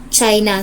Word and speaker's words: Qin: uh please read the romelin Dynasty from which China derives its name is pronounced chin was the first official Empire in